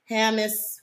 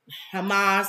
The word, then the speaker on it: Hamas: says as us condemns hamus Hamas attack as evil you got me saying it wrong I know President Biden